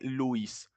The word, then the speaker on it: Lewis: Y por último tenemos estructura de Lewis. Así, un datazo. Esta E y esta W no se pronuncian EU, se pronuncian U. Es como literalmente Luis, pero en inglés. Es Lewis, con acento en la U.